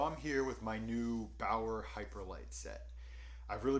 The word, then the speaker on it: Bauer: riddle me this what's one of the most anticipated lines of 2021 and rhymes with bower hyperlite stick around and i'll